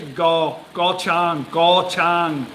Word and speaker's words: Koh Chang: But it's actually Go Chang, with a G sound. Go, like go.